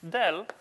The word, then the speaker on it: del: the D notation so this guy usually pronounced as Dell rather than as you know pointed triangle going downwards or something like that